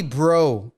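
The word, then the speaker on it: Breaux: level of respect lonnie bro l-o-n-n-y uh last name is spelled b-r-e-a-u-x like french bro interesting honey bro uh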